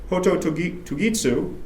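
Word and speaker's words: ほととぎす: When he invokes the call of a cuckoo, its very name, Hoto Tugitsu, pronounced with a virtually silent closing vowel, invokes its lonely cry.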